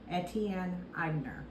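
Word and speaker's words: Etienne Aigner: Atelier in 1959 in New York it is pronounced at Tien eibner to so you know they created Timeless signature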